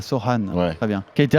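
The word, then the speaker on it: Sochan: minutes press de jerémy sine prononce Soan ah Soan très bien qui a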